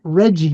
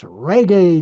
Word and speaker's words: reggae: By the way, in Jamaica it's not Reggie music, it's reggae music.